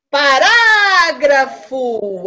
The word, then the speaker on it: parágrafo: Parágrafo. Aonde vai o acento? Para. Qual é a sílaba que demora mais?